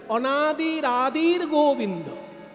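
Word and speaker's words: অনাদিরাদির্গোবিন্দঃ: সঙ্গে র হয়ে গেছে তেমনি আদির সঙ্গে যে বিসর্গটা আছে ওটা গ এর উপরে রেপ হয়ে যাবে তাই উচ্চারণ করতে হবে অনাদির আদির গোবিন্দ অনাদির আদির গোবিন্দ সর্বকা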